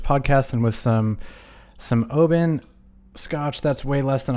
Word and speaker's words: Oban: my favorite scotch is the it's i apparently pronounced oben it's oban the 14 year i think it's super super